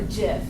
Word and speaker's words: GIF: Yes, it's what a GIF is, or a GIF. That depends on who you are.